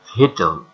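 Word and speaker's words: victual: Does this spelling match the pronunciation of this word? We see here that the pronunciation of this word is vital.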